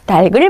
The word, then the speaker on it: 닭을: 치킨치킨 닭 좋아하시죠 식구들과 어제 어 닭을 먹고 왔어요 다실 사실 이렇게음 발음을 되게 많이 하세요 식구들과 함께 뭘 먹고 왔다고 하시는게 표준 발음에 맞는 거예요 몸으로 시작하는 형식 형태 소니 바로 연음을 시키셔야 뭐라고 하셔야 돼요 어제 식구들과 함께 맛있게 달을 먹고 왔어요 이렇게 말씀하시는게 교양인 분들의